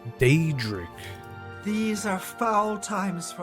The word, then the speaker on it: Daedric: They're not even saying it right. Daedric? It's Daedric.